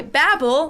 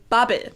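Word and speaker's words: Babbel: okay good job in countries they go by babble like i just said it whereas in germany we actually say babe now the german verb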